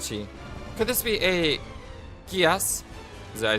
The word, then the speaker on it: Geass: Could this be a Gias?